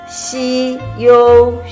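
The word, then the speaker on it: 休: left and right structure the pronunciation is shi yo first time it means rest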